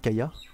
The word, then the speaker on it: Kaja: Kaya, il s'écrit Kaja, mais ils disent Kaya à chaque fois, donc on va prononcer comme eux.